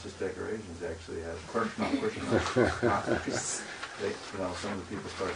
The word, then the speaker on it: Krishna: The hissing noise is sometimes produced because they don't realize that it's Krishna. These R, S, and N are pronounced at the back of the palate.